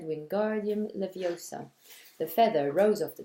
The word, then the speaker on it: Wingardium Leviosa: much more luck when guardian leviosa he shouted waving his long arms like a windmill you're saying it wrong Harry heard her yummy snack it's Wingardium Leviosa make the GAR nice and long you do it then